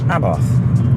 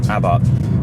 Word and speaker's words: Abarth: need to say is a lot of UK owners say abbath or abath you know correct in the English language but brand pronounced Abbot there's that uh elephant